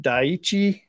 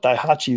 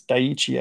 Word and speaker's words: Daiichi: Is it Daiichi? I called it Daihachi the other day, but it's Daiichi, I think. It's Japanese. These hooks are pretty good.